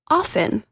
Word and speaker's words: often: lady mispronounce the word often it is often the no te in the dictionary or sorry it's often in the dictionary the tea is silent why do they bother